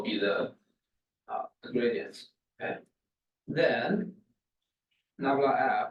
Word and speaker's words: nabla: down triangle, which is called nabla of f, and nabla f. Let me just write it down right here, nabla. So this is the pronunciation. I want you to make it as simple.